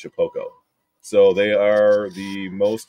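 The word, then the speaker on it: Shapeoko: So I was calling it Shapioko because that's how it's spelled. That's Jacob Griffin again. Yeah, Jacob. So it's spelled Shapioko, but it's pronounced Shapoko.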